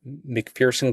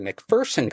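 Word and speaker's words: McPherson: I would great uh program McFersonson College in MC sorry I always say it wrong. It's actually McFersonen College in McFersonen Kansas.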